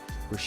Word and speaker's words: Boucher: And in net for Philadelphia will be Brian Bush. That's how you pronounce it.